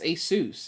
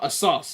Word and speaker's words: Asus: cool there's custom Asus that's how you say it's Asus it's not a sauce it's not among us customizable RGB Lighting on